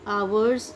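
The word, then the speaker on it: hours: Friends, एक चीज़ और सीखिए, आवर्स, इसको एच से शुरू हो रहा है लेकिन यहाँ पे एच साइलेंट है, एच साइलेंट है, तो इसको हम एच ना पढ़ के ओ से वो पढ़ेंगे, प्रोनाउंस करेंगे तो बनेगा आवर्स।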